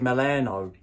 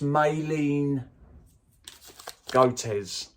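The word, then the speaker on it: Malin+Goetz: pronouncing it wrong now I think I said Milano it's mayleen goaters dark rum I'm a [ __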